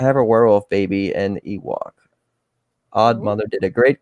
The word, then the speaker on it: Ewok: It's Ewok.